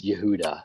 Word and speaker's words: Yehuda: pronounce the name yes I thought it was like oh I'm just pronouncing it like phonetically or whatever just the way it's spelled it's Yehuda so yeah so basically um